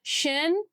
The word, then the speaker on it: function: And the first syllable is funk. Let's write down funk. And the last syllable shen with our concept t i. T i o n. Funk. Shen.